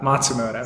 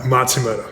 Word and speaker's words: Matsumoto: it's a good try how's it how's it pronounced it's uh Matsumoto Matsumoto yeah I get better I promise it's it's